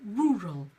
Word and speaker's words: rural: know why actually but rural so rural and again the sound is ruh-roh so it's again that schwa sound rural rural is the